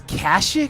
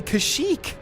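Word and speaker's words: Kashyyyk: Did Did everybody pronounce it as cashic during this time? Like, that's so weird to me. It's definitely Kashik. It's got the three Y's. That's a hard Y, man.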